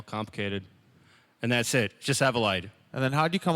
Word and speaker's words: Evollyd: Why don't you guys go ahead and pronounce this for me one more time? You can do it. I believe in you. Evollyd. You figure it out. Evollyd.